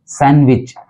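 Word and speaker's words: sandwich: देते हैं सैंडविच जबकि इसके अंदर डी जो है वो साइलेंट है तो इसका जो उच्चारण हो जाएगा वो होगा सैंडविच सैंडविच सैंडविच अगला वर्ड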